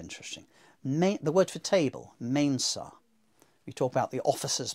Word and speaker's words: mensa: But even in the 4th century, people were saying mesa. They're being lazy. They're being lazy.